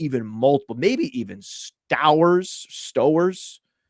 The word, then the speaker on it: Stowers: It rhymes with Flowers or Towers.